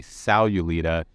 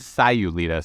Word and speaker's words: Sayulita: and Andrew corrected me I say salulita but she corrected me it's Sayulita so almost like SI is how I'm picturing in my head now gosh where to